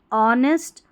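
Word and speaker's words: honest: फिर दूसरा है कि एच जो है ना साइलेंट रहता है। जैसे कुछ स्पेलिंग्स में कुछ शब्दों में एच नहीं पढ़ा जाता। विशेषकर ये सारी स्पेलिंग्स हैं। ठीक है? ये सारी स्पेलिंग्स है। याद रखें। यहां पर देखिए ऑनेस्ट। यहां है आवर और इसको आर भी पढ़ सकते हैं। कोई इशू नहीं है। आवर यह है ऑनर। तो यहां पर एच को नहीं पढ़ रहे हैं।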